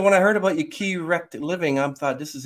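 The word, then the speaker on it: Kerekt: spell it phonetically is the way I spell it on my book, K-E-R-E-K-T.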